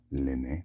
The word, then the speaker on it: Lene: And Lene, pronounced Lene, like a Rene, means waterfall or water.